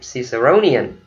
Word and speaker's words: Ciceronian: Ok, là cái chữ bạn nhìn thấy đó, mình đọc là Ciceronian, right? Ciceronian. Rồi đọc chung với thầy nè, Ciceronian.